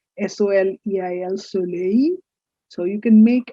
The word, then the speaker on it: soleil: look at something like s-o-l-e-i-l soleil so you can make an intelligent informed guess that this is about the sun simple the last l is silent it is sunny last